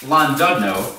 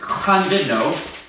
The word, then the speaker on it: Llandudno: We're in the Welsh lands and a place called, we called it Llandudno. Apparently that's wrong. It's actually pronounced Llandudno.